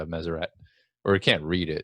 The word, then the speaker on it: Meseret: rendition possible I've heard so measure a is the correct way to pronounce it I've heard Messer Rea where a lot of people think the T at the end of silent and Shiah which I'll